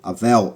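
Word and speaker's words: hevel: eh e na verdade você meio que pronuncia quase Como Abel avel avel eh se você lembra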